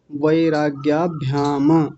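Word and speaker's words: वैराग्याभ्याम्: अंत में क्या बोला वैराग्याभ्याम म को पूरा बना दिया म को पूरा नहीं करेंगे करेंगे।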